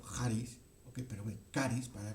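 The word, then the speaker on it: χάρις: Que la hemos leído, es la palabra charis, o pronunciado en griego charis, ¿okay?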